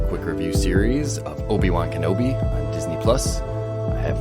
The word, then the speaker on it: Kenobi: is there kanabi i i believe it's kenobi oh okay i mean